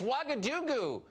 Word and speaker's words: Ouagadougou: Ouagadougou? Oh, I don't know if I can pronounce it. I don't know. It's Ouagadougou.